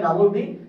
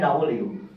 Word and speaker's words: W: অর্থাৎ যার কারণে এটার উচ্চারণ এখন কিছু কিছু জায়গায় ডাবল ভি, কিছু কিছু জায়গায় আর বেশিরভাগ জায়গায় ডাবল ইউ। তো আমরা কোনটা উচ্চারণ করব? আমরা যেটা উচ্চারণ করব অথবা উচ্চারণ করি সেটা হচ্ছে ডাবল ইউ, সেটা হচ্ছে ডাবল ইউ।